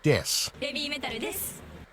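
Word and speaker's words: です: An example is that when Babymetal introduces themselves, they will use a pun with the English word death instead of the Japanese word des, as des means I am or we are and is pronounced similarly.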